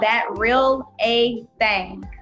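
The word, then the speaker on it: That Real A Thang: So that is pronounced that real A thing, THANG.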